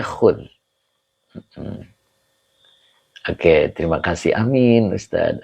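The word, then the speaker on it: خذ: ini adalah fi'il Amar khud ituu dibacanya khud Oke terima kasih Amin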